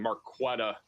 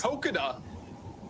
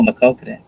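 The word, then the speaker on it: Maquoketa: I don't think I've been pronouncing Marquetta correctly in Iowa. See if I can get the pronunciation. It's Marquette. Max. Makokada.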